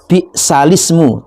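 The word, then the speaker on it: بِئْسَ الِاسْمُ: itu asal katanya lata manuna wala talmizu anfusakum wala tanabazu bil alqob bis balismul fusuqu ba'dal imannya di balismu tulisannya ismu tapi bacanya balismu jadi diqqal ya.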